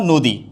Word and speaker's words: নদী: উচ্চারণ হয়ে যাচ্ছে মনীষা নদীর উচ্চারণ হয়ে যাচ্ছে নুদি এখন আপনাদের প্রশ্ন হতে